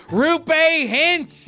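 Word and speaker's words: Roope Hintz: I betrayed myself by giving it multiple pronunciations in one. Rupe Hintz is the high-flying centerman for the heavyweight team, the Dallas Stars.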